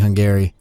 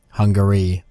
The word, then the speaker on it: Hungary: the a and it's actually hungry I've been pronouncing the a in that pretty hard I've been saying hung Gary when it's actually really more like hungry Hungary but uh Hungary but yeah I just I